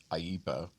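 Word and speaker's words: IEEPA: Emergency Economic Powers Act, which is called AIPA. That's that's that's if you pronounce the acronym, that's what it is.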